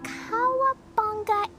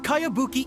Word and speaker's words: Kayabuki: never heard of it by cowabunga icky mia this is a really strange name who's this cowabunga it's pronounced kayabuki ek that would be me